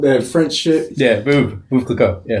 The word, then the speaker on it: Veuve Clicquot: Yeah, Veuve Clicquot. Yeah, it's good. That's how it's pronounced?